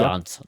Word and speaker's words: Jansen: Marco, I think it's Jansen or Jan. I think they pronounce it Jansen in South Africa. Janssen.